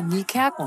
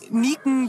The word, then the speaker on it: Niekerken: Von Nieken bis Nickerchen war schon alles dabei.